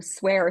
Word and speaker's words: SWAIR: So, swear spelled like hair sw air um on all the things.